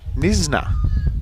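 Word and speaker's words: Knysna: Pronounced Nisna. So, the K is silent or nisna.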